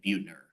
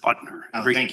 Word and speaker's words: Butner: And I think sorry I think it's pronounced Butner every time I've been there.